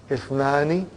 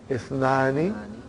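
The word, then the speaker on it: اثنان: If it comes in the beginning, it is pronounced. If it doesn't come in the beginning, then it is assimilated.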